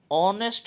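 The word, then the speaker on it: honest: लेकिन एच जब हम इसको बोलते हैं तो एच जो है वह साइलेंट रहता है। ऑनेस्ट मैन हो जाता है। तो ऑनेस्ट जो है यह वोवेल जैसे साउंड करता है।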